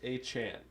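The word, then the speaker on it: Achane: uh the Dolphins running back room is it a Chan is that how you say his name apparently it is it is aan aan okay aan though a carries just corrected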